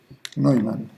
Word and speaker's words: Neumann: Recuerdo, la pronunciación en alemán EU es hoy, Neumann.